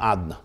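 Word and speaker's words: אדני: hainu inyan hagiluhu b'shem adna. So this means that the way he's written is not the way he's pronounced. The way he's pronounced is the name Adna, not Yud Kei Vav Kei.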